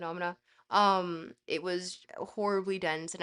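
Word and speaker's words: Noumena: I know it's pronounced Numina, but it's not. I call it Nomina.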